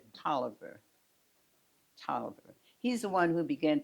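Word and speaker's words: Taliaferro: spelled and you would think it would be pronounced Talia faroh pronounced it toer and there used to be a football player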